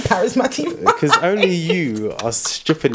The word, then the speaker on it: parismatiq: it now to my Instagram handle which is parisma right and just notice how I pronounced that right I said parisma not Paris or par Paris mati Q I was doing